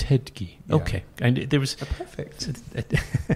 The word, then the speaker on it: Ettedgui: well I thought so Bennett but that's Harry pronounce you its head key okay I did there was well we have